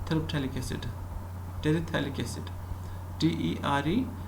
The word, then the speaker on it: terephthalic: It is also called terephthalic acid, terephthalic acid, TERE, terephthalic acid. This is called phthalic. This phthalic, PH is silent. Okay, terephthalic acid, P is silent, P is silent, PH.